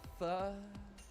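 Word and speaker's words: phở: I'm going to go eat some fur. I hate how it's actually pronounced.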